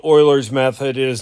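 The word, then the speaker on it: Euler: Um, so we're going to do what's called Oilers's method. It is not Uler. It's not like Ber's Day Off. This is pronounced Oilers's method.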